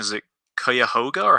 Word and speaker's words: Cuyahoga: And forgive me if I butcher the pronunciation. Is it Cuyahoga, or how do you say it? It's Cuyahoga Valley.